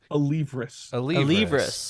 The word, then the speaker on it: Alevras: So, the guest, Alevras, is that how you said that? You said it wrong already. Alevras. I was going to try it. Alevras. Here, I'll help you. Alevras.